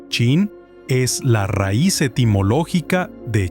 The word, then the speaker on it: Qin: La unificación bajo Chin en el 221 de Cristo fue tan fundamental que el nombre Chin, pronunciado Chin, es la raíz etimológica de China en la mayoría de idiomas occidentales.